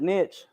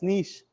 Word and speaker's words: niche: Some of y'all pronounce it niche. It's wrong. Sorry. It's niche. European, I think. I don't know.